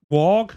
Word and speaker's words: Waugh: So Scott Wog, spelled Waugh. Anyway, what he's known for is a film that I seem to get whenever I search for this.